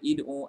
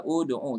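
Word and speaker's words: ادعوا: Adakah baca id'u, ad'u, ud'u? Ini adalah fi'il amr. Fi'il amr dia akan melihat kepada huruf yang ketiga. Okey, ud'u kita bacakan ud'u li abaihim.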